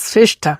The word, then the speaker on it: শ্রেষ্ঠ: হ্যাঁ হ্যাঁ, দুর্দান্ত কালার আসে, এবং নাম হলো শ্রেষ্ঠা। হ্যাঁ, শ্রেষ্ঠা, এবং নামকে সঠিকভাবে জাস্টিফাই করে। অ্যাকচুয়ালি শ্রেষ্ঠা আমরা বলি, স্পেলিংটা হচ্ছে শ্রেষ্ঠ, শ্রেষ্ঠ বলে ওরা। আচ্ছা, মানে ওরা আমাদের মতো উচ্চারণ করে না, বলে শ্রেষ্ঠ, পুষার শ্রেষ্ঠ।